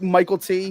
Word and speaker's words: Mykelti: Yeah, it's MYKELTI. Like Michael I T, was yeah. told it was like Michael T.